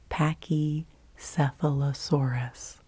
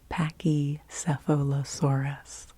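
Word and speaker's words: Pachycephalosaurus: it was very funny how many syllables are there in pachy sealosaurus pachy sealosaurus it's a dinosaur it's a dinosaur py sephos aurus yes there are seven seven seven seven syllables in paky sealosaurus and she liked to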